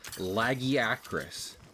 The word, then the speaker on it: Lagiacrus: Hunter Wild's character Eric pronounces it as though it's supposed to be said laggy acris like you know Jensen Acris.